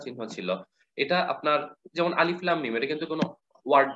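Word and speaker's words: الم: তাহলে লাস্টের মিমটার উচ্চারণটা এভাবে হবে মিম, দেড় হরকত পরিমাণ এই গুন্নাটা হবে, শেষের গুন্নাটা। তো এরপরে আচ্ছা এটা আরেকবার বলি, তাহলে এটা শুনতে কিরকম হবে? আলিফ লাম মিম।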